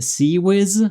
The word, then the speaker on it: CIWS: C like closein weapon systems um pronounced sea whiz.